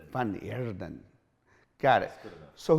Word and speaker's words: Van Heerden: So roll the R. Roll the R. Say it again. Van Heerden. Van Heerden.